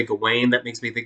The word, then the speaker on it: Gawain: goblin does it go wayne i've always said gowan uh that's how i learned it back when i was in college uh if i'm saying it wrong i don't really care because i'm not going to say gawain that makes me think like gawain's world and